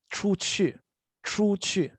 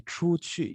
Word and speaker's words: 出去: practicing a little bit, 出去. So the pronunciation goes 出 and then 去. It's very confusing, but because it's two U's, but I want you to think of this U as a V, okay?